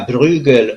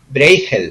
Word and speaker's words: Bruegel: reflexión un cintank llamado se escribe bruegel y se pronuncia Breaker o breakel según lo procesa la holandesa o a La alemana allí dan datos de cómo